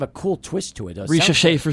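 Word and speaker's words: Risacher: I don't even know how to pronounce Zachary Saker. I might be pronouncing it wrong. So it's Risha Shea. Yeah. Zachary Risha Shea.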